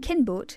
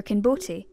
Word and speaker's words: Kinbote: see the thing is nobody actually knows whether this word is supposed to be pronounced kinboat or kinbote and it could be either we don't have any